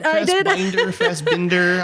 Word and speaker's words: Fassbinder: That's how you pronounce it. But Fassbinder, I know.